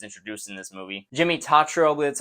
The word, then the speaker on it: Tatro: when she was introduced in this movie Jimmy tatrobe that's how you say his name his young